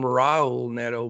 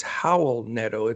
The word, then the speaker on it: Raul Neto: I was always called him Raul Neto, but he's from Spain, and it's Howell Neto. The R's are pronounced like H's.